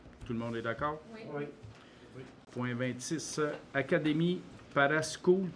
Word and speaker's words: Parascool: Point 26 Académie Parascool. Parascol qu'on prononce ça ? On dit Parasco.